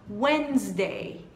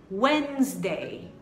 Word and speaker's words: Wednesday: Quarta-feira, apesar de você ver um D aí e depois o D você tem um E, você não vai pronunciar essas duas letras, que vai ficar Wednesday, Wednesday, Wednesday.